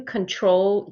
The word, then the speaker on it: control: have that pronunciation so we are only going to put the stress on the second part of control and sometimes it's a